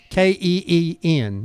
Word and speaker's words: keen: King and 15. King. K-E-E-N. Not king, but keen.